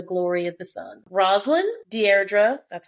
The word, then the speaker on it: Deirdre: Rosalind, Deirdre, that's how you pronounce it, and Ananka.